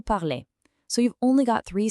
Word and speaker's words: parlez: And the vous ending e z sounds like a sharp a, vous parlez. So, you've only got three sounds to remember total. Parle, parlons, parlez.